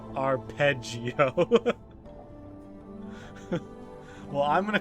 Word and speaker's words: arpeggio: Tim Tim says it's a musical term pronounced arpeggio.